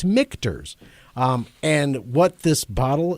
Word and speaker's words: Michter's: me to go um I want to say mters well you said it right it is I did yes it's mters okay yeah m i and that's where people get that messed up it's MERS no it's mters yeah it but just